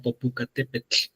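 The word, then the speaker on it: Popocatépetl: Entonces, para hacer para no hacer largo el cuento, en realidad una persona de Tlacotenco lo pronunciaría como popucatepet.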